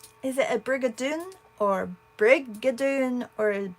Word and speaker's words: Brigadoon: Brigadoon or Brigadoon or Brigadoon or how do you what's the emphasis on only because I never use the word briger I mean it must be Dune because it has to rhyme with June because we're doing June